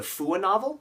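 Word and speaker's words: Fuwanovel: guys can go to fua novel and I'm pronouncing that white on purpose because if I say who a novel people might get it wrong fua novel is a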